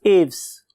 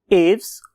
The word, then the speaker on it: Aves: When I was listening it's pronunciation तो मुझे दो किस्म की प्रोनाउंसिएशन मिली। उनमें से एक एव्स और बहुत से लोग इसे एव्स भी बोलते हैं। So what ever you like, right.